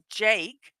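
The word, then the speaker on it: JVKE: Our next person is Jacob Dodge Lawson, who is known as Jake, and it's spelled JVK, all capital letters.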